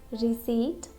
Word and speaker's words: receipt: Now there are some random common words like receipt, cupboard, coup and raspberry.